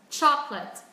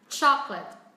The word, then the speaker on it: chocolate: Chalk, let's, chalk, let's, chalk, let's, chocolate, chocolate. Đó, chúng ta xuống giọng chocolate.